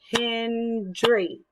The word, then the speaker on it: Hendry: Like my last name is Hendry. So this is how I would do that. Hendry. So I have 2 syllables.